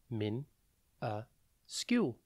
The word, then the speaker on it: minuscule: minuscule it is pronounced Min a SKU and it is spelled m i n u s c u l e think Min the letter U and then SKU minuscule means very small